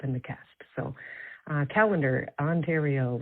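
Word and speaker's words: Callander: Um, you're over complicating it, Mike. It's just calendar.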